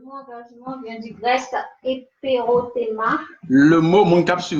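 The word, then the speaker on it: ἐπερώτημα: Je vais prononcer là comme ça l'écrit. Et, c'était français, c'est-à-dire éperothéma. Mais ce n'est pas du français, on dit éperothéma.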